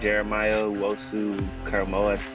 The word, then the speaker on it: Jeremiah Owusu-Koramoah: Got my boys taking a linebacker, Jeremiah Owusu-Koramoah.